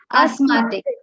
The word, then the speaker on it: asthmatic: me the pronunciation of asth matic a-s-t-h-m-a-d-i-c matic mom once again please asthmatic yes asthmatic the th is not uh not to be uttered not to be pronounced f-e-b-r-u-a-r-y february uh i